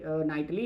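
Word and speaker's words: knightly: अगर आप देखोगे यहाँ तो दोनों में तो के साइलेंट है, यहाँ भी नाइटली है, यहाँ भी नॉलेज है, इसमें के साइलेंट है। तो जब आप इसके साउंड पे बात करते हो, जब आप प्रोनाउंशिएट करते हो इसको, तो दोनों जगह आप देखते हो कि एन साउंड ही है, तो इसीलिए ये एलिट्रेशन है, ठीक है।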